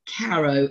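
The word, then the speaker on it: Caröe: Van by William Douglas Caro pharoh Caro evidently is how you pronounce it and again I I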